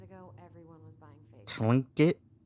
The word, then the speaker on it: Tlingit: Tlingit? Tlingit? It doesn't sound like they're saying lingit. There's like the T before it.